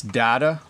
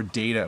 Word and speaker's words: data: do you pronounce data so it's data or data we pronounce it two ways isn't that crazy like there's a lot